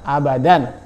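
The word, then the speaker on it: أبدًا: Alif seperti itu ya aba dan cara bacanya adalah abadan dan ditulis dalam Latinnya pun abadan ya kemudian contoh yang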